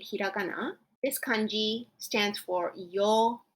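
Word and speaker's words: 曜: So if you can read hiragana, this kanji stands for yo u. It's pronounced yo. It's a long sound, yo.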